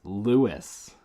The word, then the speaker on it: Lewis: know names at all it's lewis it's spelled with a u after the o lewis is a dude's name lois is not a